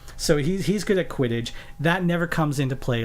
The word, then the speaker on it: quidditch: Q um quidditch quidditch I wasn't gonna mispronounce it I'm not gonna be like one of those hipsters it's like oh what is it called is it called quadage is it Coolidge it's quidditch so he's he's gonna